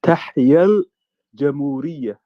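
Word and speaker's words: تحيا الجمهورية: You have to make sure that everybody can pronounce this properly. Yeah, Tahia al-Jamhuriyya. Tahia al-Jamhuriyya. That's it. Yeah, Tahia al-Jamhuriyya or Tahia al-Misr. Long live Egypt. Tahia al-Jamhuriyya. Tahia al-Jamhuriyya. No, Jamhuriyya, Mr. M. Okay. So we need to work on the pressed consonants and the broken consonants of the Dutch, for that matter.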